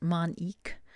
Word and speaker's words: Manik: So the card here, Manik, it's pronounced Manik.